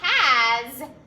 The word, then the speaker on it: has: that sometimes s at the end of the word makes the z sound so it's no longer